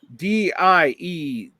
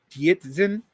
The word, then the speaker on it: Dietzgen: Dietzgen, and he was a Marxist. DIE is D. Dietzgen.